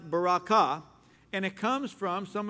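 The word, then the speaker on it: ברכה: the Hebrew word Baraka the emphasis the accent is on the last syllable Baraka sometimes we say Baraka really doesn't matter but it's pronounced Baraka and it comes from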